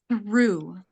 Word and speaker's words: through: فالنطق صعيب. th هل the letter الحرف ث ث ث.